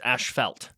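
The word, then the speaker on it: asphalt: felt amazing so I'm I'm British so I say it's um Ash ashel p h a l t it's ashel yeah that's what I'm hearing we invented the language remember so that's the correct way to say okay okay anyways I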